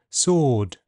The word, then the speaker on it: sword: W is silent in some words. Sword to answer who hole and in all words beginning wrong, wrist, writer.